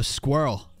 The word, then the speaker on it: squirrel: still has two syllables no squirrel that's one syllable syllables are counted by vowel clusters and since that last e is not pronounced you you go liquid straight from R to L that's still technically one syllable squirrel it's how like same with